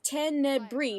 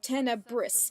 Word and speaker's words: Tenebrae: compilation of every time Tenebrae is mentioned. It's not pronounced how it's spelt, you see. It's Tenebrae, not Tenebris.